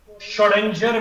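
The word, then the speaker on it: Schrödinger: इसको बोलते हैं श्रोडिंगर वेव इक्वेशन। मैं स्पेलिंग बोल रहा हूं, स्पेलिंग लिखो, श्रोडिंगर wave equation, SCHRODINGER, श्रोडिंगर wave equation, श्रोडिंगर wave equation.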